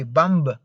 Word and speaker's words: bomb: b at the end you'd have to say bomb no bomb no it's not bomb it's bomb only bomb the the the the latest in this case the last letter b is silent remember that in these